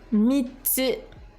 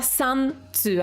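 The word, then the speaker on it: 三つ: Mitsu. Et non pas, c'est pas san tsu, hein. On a envie de prononcer le 3 san, mais en tant que compteur de choses, c'est mitsu.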